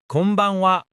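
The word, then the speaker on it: こんばんは: Konbanwa. Konbanwa. Notice how it sounds similar to konnichiwa? Listen, konnichiwa. Konbanwa. Hear the pattern?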